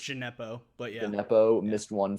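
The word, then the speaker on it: Djenepo: Jeopardy, pardon me if I'm pronouncing that wrong, missed a it's just Gineppo, but yeah.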